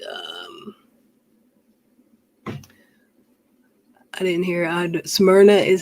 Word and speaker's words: Smyrna: what is it um i didn't hear uh smyrna is how you say it what did she